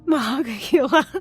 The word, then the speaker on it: Monongahela: I know it's Monongahela. I just butchered it so bad.